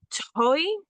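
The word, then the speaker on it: τῷ: it's uh that vow so that's the Omega with a circumflex and it's got a Yoda subscript underneath it that's where that e sound at the end is coming from the toy okay yeah and then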